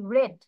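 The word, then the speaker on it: read: study book story book okay last week I রেড এটার pronunciation কি হবে রেড রিড হচ্ছে প্রেজেন্ট আর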